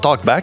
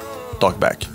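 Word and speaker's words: TLKBCK: le 17 mai euh j'imagine ça se prononce talkb mais il a enlever les voyelles ouais donc t l k B C k talkb de la part de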